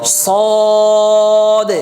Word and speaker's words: صاد: এগুলো আচ্ছা তাইলে আপনারা উচ্চারণটা কিভাবে করবেন গাম্ভীর সাথে মোটা করে দেখেন صদ صদ আকার হবে তাহলে মোটা হরফ গুলোর মধ্যে উচ্চারণ কি হয় না আকার হবে না صاد صاد صاد صاد اب